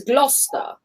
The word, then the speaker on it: Gloucester: is g-l-o-u-s-e s-t-e-r so a normal like foreign person rochester that's how they would say that it's gloucester lost the road i'm just